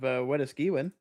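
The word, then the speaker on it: Wetaskiwin: There's a good hailer south of Edmonton, just north of Weskiwin. Oh, yeah. Okay. Spell that for me without looking at it.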